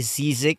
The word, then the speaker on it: Si7ick: grammar mga friends na 'yung pagkakaang pronunciation daw nitong pangalan niya ay Zic. Ah yung spelling niya ay is s I zin I z k. Yun. Un daw yung ang yung tamang pronunciation daw ay ah Zic.